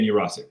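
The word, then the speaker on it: Yurosek: But since we were talking about Stanford just a minute ago, Jurasik, is that how you say it? Yeah, Ben Jurasik.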